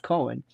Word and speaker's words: Cohn: And Roy Cohn, often pronounced Cohen, the ruthless fixer in